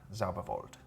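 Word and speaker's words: Zauerwald: me z-a-u ER w-a-l-d zabovolt like sauerkraut sure feels like it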